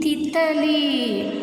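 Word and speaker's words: तितली: So ta plus E equal to thi. This is right side the symbol. You should read long pronunciation. So la plus E equal to li. Now word thi, ta, li, thithali.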